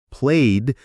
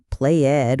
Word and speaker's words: played: Played ends in a d sound. Watched ends in a t sound. needed ends in it because it ends in a t or d. It's not play Ed or watch Ed or like Ed. It's played, watched, liked.